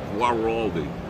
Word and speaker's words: Guaraldi: what's going on uh gu how do you pronounce that gu gualdi Guaraldi Vince Guaraldi he a freaking genius genius composer